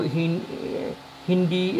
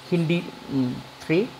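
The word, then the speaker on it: HindIII: So Hindi is 3 is there. Hindi's pronunciation will be HIN separate and D separate. Not Hind, it is Hindi. Hindi 3.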